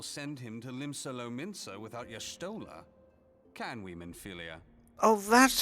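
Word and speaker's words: Y'shtola: can't very well send him to limsa without y sta can we meilia oh that's how you pronounced that I've only ever seen it written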